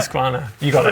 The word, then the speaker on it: Husqvarna: Because people have been pulling us up about the pronunciation. Husqvarna. It's Husqvarna, right? Husqvarna.